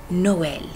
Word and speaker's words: Noël: grave comme par exemple Noël Noël le e il est plus ouvert et donc c'est comme E avec un accent grave mais aussi il y